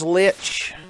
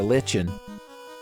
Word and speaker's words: Lich: Alright, all that's left is Lich. Lich needs a licking. Or a lichin', as you might accidentally pronounce the name of that substance that like grows on the side of trees.